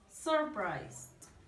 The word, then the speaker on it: surprised: Surprised. Here is the pronunciation. Surprised. Surprised. Surprised. With the D at the end, con la D al final.